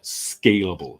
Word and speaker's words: scalable: Careful with the pronunciation of scalable, because you will have to scale, but scalable is the soft syllable.